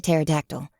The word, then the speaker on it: pterodactyl: painted wooden display of Terry the pterodactyl with a silent P at the start of Terry but the shelves were